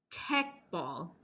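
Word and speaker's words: Teqball: sport yet go and look it up because Tech ball I think I'm saying it correctly te e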